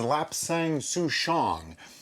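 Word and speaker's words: lapsang souchong: is lap sang-soo-shong and i'm probably saying that wrong except that i looked it up and google says to pronounce it like this so if anybody has an argument with that argue with google because that's who told me how to say it there's an interesting story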